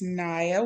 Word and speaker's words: Najya: me, my name is Niya. Um I know there's a J in my first name. It's there for emotional support. Um but it is silent.